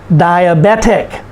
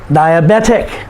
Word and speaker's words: diabetic: last syllable geographic geographic diabetic diabetic someone who has high sugar in their blood so the person is diabetic and so ba is the second to the last syllable the last syllable is tick words that end in